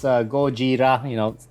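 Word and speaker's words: ゴジラ: america pronounces it but in japan godzilla is pronounced gojira just like comic book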